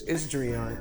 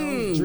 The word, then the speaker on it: Dreion: I've been calling this man Dreion forever, and he's like, it's Dreion. I tell everybody, like, dream on. You know, Dreion.